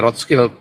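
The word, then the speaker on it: Rothschild: Child apa road skill Kalau bahasa Jerman ya road skill road Child kalau orangor Amerika bilang R Child ya di root skild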